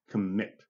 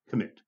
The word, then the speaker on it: commit: complicated but it's not think of the word commit okay so i'm going to say the word again commit commit commit the emphasis two syllables on the last symbol okay on the last syllable commit submit right words